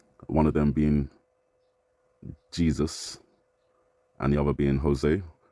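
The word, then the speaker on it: Jesús: Jose and Jesus but a Spanish pronunciation for Jesus so Jesus um and obviously there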